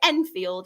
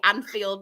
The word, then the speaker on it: Enfield: Is it Enfield it's pronounced? Yeah. Enfield, yes. Yeah. Enfield Town. I always go to say Anfield, but that's with an A.